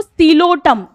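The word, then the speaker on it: Psilotum: इसका एग्जाम्पल लिखो सीलोटम, इसमें पी साइलेंट है, सीलोटम।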